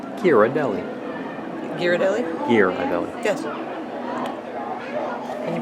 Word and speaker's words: Ghirardelli: And I learned how to pronounce Ghirardelli. Ghirardelli?